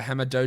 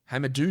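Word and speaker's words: Hamidou: we also get uh hamado diallo hamadou diallo that's better a better pronunciation maybe he starts as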